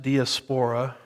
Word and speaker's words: diaspora: Now, when you do a word study on diaspora, some pronounce it diaspora. It just depends on which syllable gets the emphasis, as I like to say.